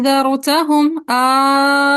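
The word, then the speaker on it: أأنذرتهم: सो हमने अलिफ मद्दा को फिर 6 हरकत लंबा करके पढ़ना है, क्योंकि कौन सी मद बन रही है? मद लाजिम। मद लाजिम। तो प्रोनाउंसिएशन बनेगी ज़रतहुम। 6 हरकत लंबा करेंगे, फिर नून का इख्फा करेंगे और फिर ज़रतहुम। और अलिफ मद्दा को नरमी के साथ इख्फा की तरफ लेके जाना है, ठीक है, जैसे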